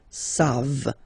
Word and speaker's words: savent: You don't pronounce it, so you get the sound savent.